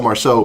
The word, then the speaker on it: Marceau: it correct this time but Marcel Marceau Marseille is a city in France so you're off by one syllable not good okay Marcel